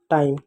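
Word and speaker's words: time: ठीक है, तो देखो टी से क्या होगा? ट होगा, आई से आ की मात्रा और ई होगा, एम से म होगा, और आपका ई क्या होगा? साइलेंट होगा। हो गया टाइम।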